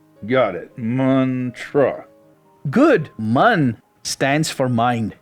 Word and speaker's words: mantra: Man pronounced like run, tra like truffle. Got it. Muntruh.